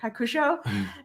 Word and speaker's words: Hakusho: it right you said it pretty much right hakusho and that was a very good obscure enemy